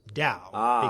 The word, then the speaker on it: Tao: But it's still pronounced Dao because the T is pronounced as a D.